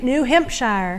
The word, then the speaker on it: New Hampshire: And yeah, it's a Yeah, I noticed you pronounce it New Hampshire. New Hempshire. And that's how they pronounce it back there.